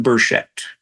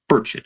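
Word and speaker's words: Burchett: history and I'm referring to Tennessee Congressman Tim bersett burett actually is how it's pronounced uh I think he's got a chunk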